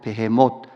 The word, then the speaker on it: 베헤못: 개혁 계정으로 바뀌면서 이것을 히브리 발음 그대로 베헤못 리워야단 요렇게 번역을 했습니다 여기서 베헤못이라는이 단어는 당일